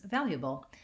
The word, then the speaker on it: valuable: see force for syllable you'll hear and see that it's four syllables you may not see